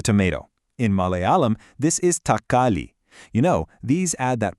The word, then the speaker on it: തക്കാളി: In Malayalam, this is thakkali.